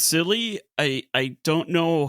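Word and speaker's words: Scilly: podcasts about this and I don't know, America pronounce it skill. I've also heard people in Britany and Normandy pronounce it skiilly, but then in England and Cornwall it's silly.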